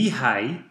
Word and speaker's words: Mihaly: Mihaly Robert Csikszentmihalyi [pronounced: Me high, Cheeks send me high] (/ˈmiːhaɪ ˈtʃiːksɛntmiːˌhɑːjiː/, Hungarian: Csíkszentmihályi